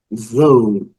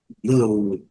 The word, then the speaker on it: though: Aqui já complica um pouquinho, though, though, though, though, though. O GH não é pronunciado e o O com som.